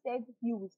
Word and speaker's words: Ted Hughes: been rumored that ted hughes and it is pronounced as ted hughes okay so ted whose is the reason for